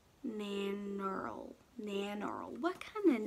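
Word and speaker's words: Nannerl: Nanoral?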